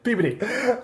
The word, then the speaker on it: Peabody: were saying yeah massachusetts massachusetts where in particular peabody mess of course you said it right yeah peabody you can't say peabody um and so what